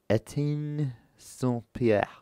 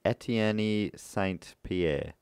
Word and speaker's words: Etienne Saint-Pierre: So from there, Valère sold the stolen syrup to a man named Etienne Saint-Pierre. Nailed it. Or, like, if I was reading that out phonetically, it'd be Etienne Saint-Pierre, who rebranded it so